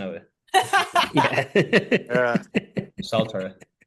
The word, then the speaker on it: Saltaire: I don't think Oh, Just the pronunciation of it. Yeah. yeah. Saltaire. Salter, I've heard someone say, yeah.